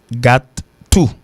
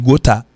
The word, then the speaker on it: gotta: Alors, la prononciation, c'est got to, qui sortit dans have got to, et puis l'expression en gothique, ok? Donc c'est got to qui baille G-O-T-T-A. En pile monde qui pas connaît dit gota, il pas prononcer gota.